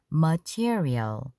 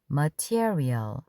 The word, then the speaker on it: material: 머티어리얼 강세는 티어에 있습니다. material. material 뜻이 다양하지만 섬유 천이라는 뜻도 있답니다.